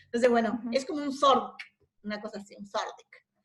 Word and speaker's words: Thorndike: El THO sería como una Z que hay que pronunciar, o sea, si lo quieren decir como corresponde, sería como Zordik, más o menos.